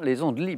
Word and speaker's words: Les Andelys: des andelys y est ce qu'ils ne se prononcent pas la fin les andelys bravo il y avait trois points jean michel